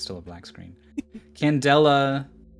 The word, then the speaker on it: candela: Candela... It's... Candela is how you say it.